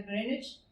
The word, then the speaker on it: Greenwich: Entonces, palacios como Greenwich le dicen, porque se escribe Greenwich, pero se pronuncia Greenwich.